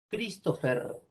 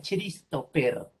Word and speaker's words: Christopher: Suena che, pero acá no se dice Christopher, sino que ahí la H no suena.